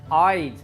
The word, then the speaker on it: I'd: I'd, the contracted form, is pronounced the same as the word I, a one-eyed pirate.